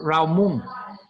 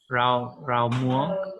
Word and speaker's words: rau muống: Rau muống. Rau muống. Yeah. Muống? Muống. Yeah. This means spinach? This means spinach. Yeah. Rau muống.